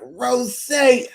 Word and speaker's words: Rosé: I think a lot of the reason why I did this is because I wanted to be like, Rosé.